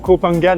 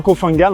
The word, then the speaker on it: Koh Phangan: j'ai appris hier que ça se prononçait copangan et non cofangan en fait on prononce pas le H je suis vraiment D